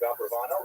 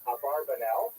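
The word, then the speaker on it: Abravanel: Uh much of this material is drawn from a very famous biography of Don Isaac Abraano. I should mention by the way many people pronounce this name Aarbanel and that's because of the it's much easier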